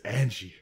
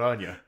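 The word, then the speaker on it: Anje: to say it it's Angie it's Angie not Anya I wasn't going to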